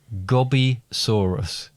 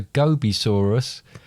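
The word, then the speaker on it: Gobisaurus: lizard no i'm afraid if i'd have said it right as a gobi saurus it's a desert lizard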